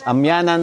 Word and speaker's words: Amyanan: Tama ba? Amanan. Amyan. Opo. Yun pala ang tamang pronunciation guys. Amyanan mountain hug.